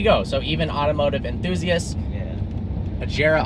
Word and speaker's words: Agera: Agera R is not right. It is the Agera.